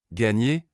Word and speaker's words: gagner: En français, la combinaison GN correspond au son ENE en espagnol et se prononce comme NI dans le mot anglais canyon. Gagner, il a réussi à gagner le concours de cuisine.